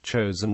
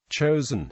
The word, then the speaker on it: Chosin: in the Korean War chosen is the Japanese pronunciation of the Korean name Chang Jin the UN forces relied